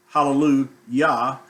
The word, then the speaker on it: Hallelujah: And it's pronounced the same way in every language. They do not change the way that word is pronounced. It's pronounced hallelujah in French, in German, or whatever language. It's pronounced as hallelujah.